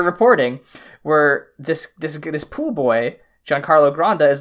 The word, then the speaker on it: Giancarlo Granda: Giancarlo Granda, right?